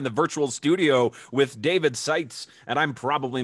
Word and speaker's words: Sietz: joined here in the virtual studio with david sites and i'm probably mispronouncing that uh am i close oh you